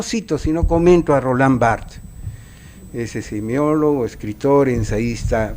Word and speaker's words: Roland Barthes: roll ámbar death por roland barthes perdón es la pronunciación correcta no es martes se escribe bart espera se pronuncia roland barthes en la derecha dice